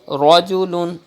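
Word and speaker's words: رَجُلٌ: You have to pronounce with thick tone like this, rajulun.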